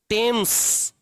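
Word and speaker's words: Thames: टेम्स वि is situated situated और located on द bank of टेम्स spelling थोड़ी अलग होगी। टी एच ए एम एस टेम्स जैसे थीम्स हो। टेम्स।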